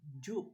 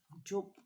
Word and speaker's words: Joop: pronounce it for us we we pronounce this one joke in our language because this is j but in german the pronouns is as the j in germany pronounces us in y or you okay you you yod for